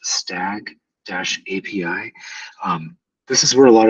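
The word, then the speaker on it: S2AG API: And the one that's highlighted right now, S2AG, pronounced stag-API.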